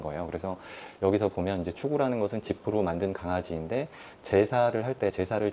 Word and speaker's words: 芻狗: 일만 만자에 만물 물건 물자 만물을 위 추구라고 읽어요. 추구.